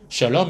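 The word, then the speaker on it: שלום: 에 평화 란 뜻이죠 이스라엘 발로 표와 정확한 발음은 셜록 이에요 액션 럼 샬롬 이스라엘 2 으 아 야외에 cro 평강의 하나님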